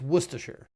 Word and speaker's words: Worcestershire: I think it's Worcestershire.